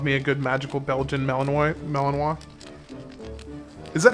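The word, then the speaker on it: Malinois: I'd love me a good magical Belgian Melaninoi. Melanino. Is that how that's pronounced? Melanino. Or is it Melaninoise? It feels like it would be Melanino. Okay. So, Malininoa.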